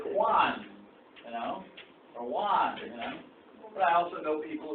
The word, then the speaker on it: Juan: When I say the word, some people say Juan, Juan, but in Spanish, the J, people don't agree that this is a J.